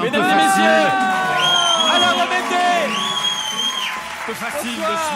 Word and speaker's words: Rebetez: Que ça soit dit, c'est Alain Rebeté.